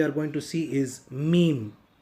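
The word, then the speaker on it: ميم: This is similar like the Tamil Ma, the Hindi Ma, and the letter M in English. To pronounce Meme, you will have to close your mouth with a little opening of your mouth. You have to say Meme, Meme.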